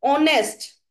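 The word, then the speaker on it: honest: जैसे कि ऑनेस्ट। ऑनेस्ट हम ओ से प्रोनाउंसिएशन शुरू करते हैं, एच साइलेंट है तो यहाँ पे भी क्या लगेगा?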